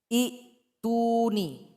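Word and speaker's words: ائْتُونِي: Jadi cara yang betul untuk membacanya adalah ituni. Sehingganya i menjadi mad ya atau menjadi mad asli. Sehingganya dipanjangkan 2 harokat atau 2 ketukan atau selama 2 detik.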